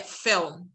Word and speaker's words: film: هنا احنا قلنا it's dark L فهي مش L هي L فهي film.